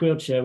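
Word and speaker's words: Coillte: it's spelled it's pronounced wheelchair which is is like the quill of a pen but with the with the CH at the end understand so you know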